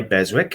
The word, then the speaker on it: Beswick: beautiful piece of porcelain it's by beswick or besik whichever you want to pronounce it it's got its original